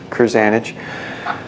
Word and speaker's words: Krzanich: guy named Brian krzanich if krz is pronounced Cruze anich Brian krzanich says not